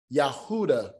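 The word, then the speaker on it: יהודה: beginning but yet they they will tell you judah is yahudah you know the father's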